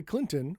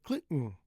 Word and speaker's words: Clinton: Now, you can say Clinton with a strong T. No problem. And many people do. But on the news or any other place, I should say, people say Clinton. Clinton. Half Tit. My tongue is still there.